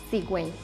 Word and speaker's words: cigüeña: Pero cuando la U tiene diéresis, no es muda y se pronuncian las dos vocales, como en la palabra cigüeña.